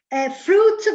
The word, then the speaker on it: fruit: Fruit, vedi la I non si sente fruit, non fruit.